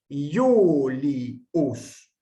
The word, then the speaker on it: Julius: Por ejemplo, Julius. Esta I sí forma una sílaba con la vocal siguiente. Yu, no es I, U, sino Yu. Julius.